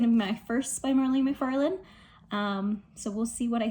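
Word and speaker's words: Mhairi McFarlane: So I'm glad I did that, let's say, because this book, You Belong With Me, by Mharee Mcfarland, that's how her name is pronounced, Scottish girl, apparently, was not very clean, not very good content wise to me.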